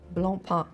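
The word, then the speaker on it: Blancpain: With Bla the C as well as the N at the end are silent. So it's blump though it sounds German.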